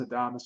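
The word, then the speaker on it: Adames: Yeah, look, it kind of looks like Adams, but it's just pronounced Adamas, I guess.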